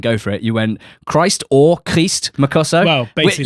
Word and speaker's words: Christ: to my club, yeah, I even got an email from Jerome at BBC Oxford with pronunciations, as I often do when we have sign players, and it seems like his name is Christ.